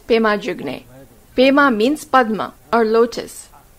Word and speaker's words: Pema: means padma or lotus actually even in tibetan the word is written as padma but because they could not pronounce it exactly like that it became pema in the spoken language this is the same